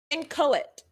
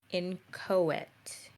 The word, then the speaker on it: inchoate: I literally am pronouncing it the way Google is saying it. I pressed the button to pronounce it. Inchoate. And it's also, for those who can see in stream, I'm pretty sure you can see the phonetic pronunciation of it. And it's like IN space KOET with little what's the word?